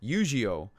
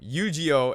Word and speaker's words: Eugeo: If you guys join me on my live streams and whatnot, I joke around, and I call him Yu-Gi-Oh, because I mean they're pronounced the same.